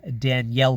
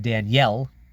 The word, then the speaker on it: Daniel: Ginter red egg Auto of world renowned Chef Danielle baloud you might be inclined to say Daniel but his first name is pronounced Danielle he hails from France this is limited to